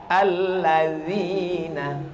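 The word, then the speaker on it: الذين: D itu bacanya dza dza. Alladzina dalam bahasa Arab ada huruf dza, ada huruf za, ada huruf wo.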